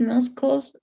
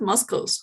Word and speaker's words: muscles: We have conscious control over these muscles, also known as straight muscles, straight. Thank you, but the pronunciation we're going to correct a little bit. It's not muscles, not just forget the C, muscles.